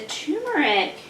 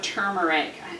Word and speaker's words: turmeric: The turmeric, or turmeric, I guess would be the proper pronunciation.